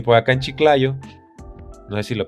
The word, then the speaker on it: Chiclayo: Y por acá en Chiclayo, no sé si lo pronuncio bien, sí, Chiclayo.